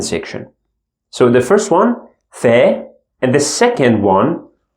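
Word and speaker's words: ف: shift letters we have little Fe this one is normal if sound in English and the second one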